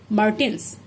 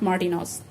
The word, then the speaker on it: Martin's: So we will have to pronounce it as Martins, not Martinos.